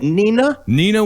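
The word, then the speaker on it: Neenah: A 300-pound Nina Barber who owns is that how you pronounce that? Nina, Wisconsin.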